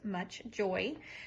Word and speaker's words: MCCHJoy: vent or on the dash again this is pronounced much joy so this is the portion right here you